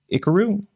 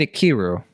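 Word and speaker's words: Ikiru: the kirawa film uh is it pronounced Karu or um I think you pronounce it akiru 1952 film yeah I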